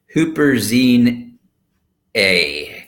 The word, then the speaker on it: Huperzine A: and then I know I'm gonna mess this up huperzine a and that's how you say it I used those